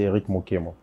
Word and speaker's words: Eric Mokemo: Je n'ai pas massacré votre nom, j'espère. Non. C'est bien prononcé, Eric Mokemo.